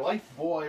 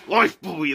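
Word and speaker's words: Lifebuoy: Life Buoy or Life Boy or however you pronounce it. I heard it pronounced Life Boy, but I always called it Buoy. Oh, there's a big one right here. Life Buoy.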